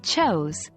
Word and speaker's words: chose: write written written is pronounced like written again the E is silent four choose chose chose is pronounced like chose where o sounds as in go five go went went